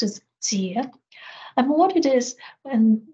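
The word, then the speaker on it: 節: explore the last word in the Chinese sentence, pronounced as jie.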